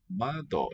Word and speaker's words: 窓: 窓、 Mado. Downstep. One of the rarer type in a two-syllable one.